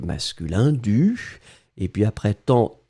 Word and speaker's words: temps: ce serait plus joli on ne prononce pas le S mais ça doit être là quand même avant normalement il y